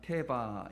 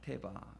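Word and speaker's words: תֵּבָה: 우리가 갈대 상자인데 이 갈대 상자를 히브리어로 보면 테바 이렇게 발음을 합니다. 테바.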